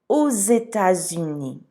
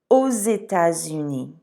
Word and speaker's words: Aux États-Unis: Aux États-Unis. Sometimes that's hard to pronounce, so repeat it after me. Aux États-Unis.